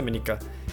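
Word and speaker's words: Monika: Monica I think häôs be the pronounce proper pronunciation right I'll say mineka me Nika is that right that's right it's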